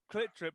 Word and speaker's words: CLTDRP: Clit Drip, but it's spelled CLTDRP. Okay.